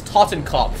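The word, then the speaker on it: Totenkopf: It doesn't sound right in English. Say it correctly. His name is Tottenkopf.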